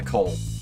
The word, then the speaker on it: Coale: But he goes by Cole. That is so cool. How does he spell it? Coale. The word Cole with the E at the end. He goes by Cole.